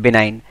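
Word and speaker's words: benign: तो सौम्य बोलते हैं बिनाइन इसमें जी साइलेंट रहता है जब भी आप प्रोनंसिएशन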